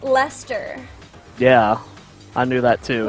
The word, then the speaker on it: Leicester: It's pronounced Leicester. Yeah, I knew that too. Which, Stark's gonna tell me that. to be fair, that's an awful lot of letters, Stark, to say Leicester.